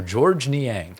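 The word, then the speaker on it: Georges Niang: The S is silent. So, George Niang.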